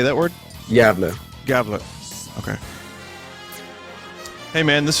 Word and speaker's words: Gävle: Gävle.